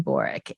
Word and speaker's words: Borwick: me is Lord Jamie borick the fifth Baron boric and I had to practice saying that because it's spelled borwick but pronounced boric Lord boric's topic was